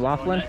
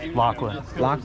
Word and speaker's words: Lachlan: you say last name laughlin lachlan lachlan like l-o-c-k okay and lachlan